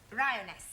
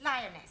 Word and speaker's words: lioness: three give the feminine of the following lion roness lioness roness no l l r r you're not saying it right very sorry I know try saying roness lioness good well in future every time you see